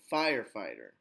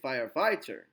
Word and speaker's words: firefighter: You wouldn't say firefighter. A lot of people, I'm a firefighter. And that's not you're not going to sound like a native speaker.